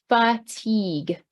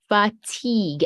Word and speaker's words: fatigue: to switch that is fatigue fatigue again looks completely different from how we say it okay so again irritable